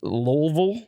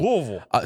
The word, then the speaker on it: Louisville: mized teeth that's the only word you can pronounce brand is that accurate yeah it's pretty good yeah he's right but it is lville they'll get on your ass L on your ass yeah Louisville louville so Elizabeth Town Kentucky is the Orlando Bloom